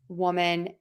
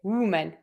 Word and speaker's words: woman: woman and women and to pronounce woman I say whoa another tip is you pucker for that W ooh a lot of my students say umen you need to pull your lips back for that vowel whoa woman how can I understand